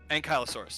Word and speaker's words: ankylosaurus: movies i love it this so it's it's pronounced anchalosaurus ankylosaurus yeah and callosaurus all right so don't tongue